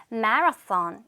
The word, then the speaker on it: marathon: 요것도 우리는 마라톤이라고 하지만 영어로 들릴 때는 marathon 이렇게 들리는구나. 요것도 중요한 포인트예요. 요거 발음 marathon이라고 들린다라는 거를 기억해 주시고 자, 이제부터 정답이 막 쏟아질 겁니다.